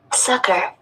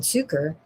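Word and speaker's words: succor: It's spelled s u c o r. And that's what I said, sucker. But I thought, oh, that's that can't be it. It's not spelled like sucker. So that's why I said suker.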